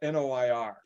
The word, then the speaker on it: noir: Noir. You're going it's like noir, like film noir.